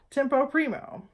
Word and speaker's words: tempo primo: so here are five of them number one tempo primo it looks like tempo one in your score and it's pronounced tempo Primo all right got it good